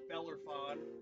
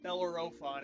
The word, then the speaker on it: Bellerophon: the greek hero um bellerphone i believe that is what his name is his name is hard to pronounce um bellerophon actually my apologies bellerophon so belarophon he was riding